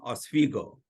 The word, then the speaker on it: Oswego: this conversation uh first uh I live in Oswego that's how it's pronounced okay New York and uh I'm a